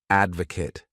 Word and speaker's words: advocate: This word has 3 syllables, and the stress is on that first syllable. Advocate.